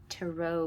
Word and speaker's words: tarot: can start with the tarot or tarot i need to start pronouncing it to row because it sounds like i'm saying tara all right utah utah